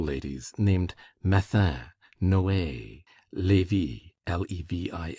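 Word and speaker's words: Levis: There were in Madame Dat's salon some very noble ladies named Metha Noe Levy L E V I S which was pronounced Levi Kambis C A M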